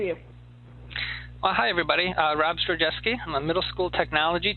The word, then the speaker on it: Zdrojewski: to our next presenter, who is patiently waiting, and I'm going to win a badge if I pronounce his name correctly. It's Rob Zdrojewski.